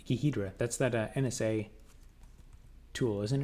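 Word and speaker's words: Ghidra: looking controls than swing the default ones it's pronounced gidra gidra I'll have to look it up later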